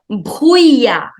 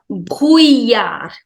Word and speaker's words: brouillard: On continue avec le brouillard. Le brouillard. It has a little typical pronunciation. Whenever you have the combination ILL in French, you generally do not pronounce double L. So le brouillard.